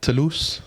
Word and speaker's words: Toulouse: Hey, do you want to know how I knew that you pronounced the name of the town correctly? Toulouse. Yeah, you want to know? Toulouse.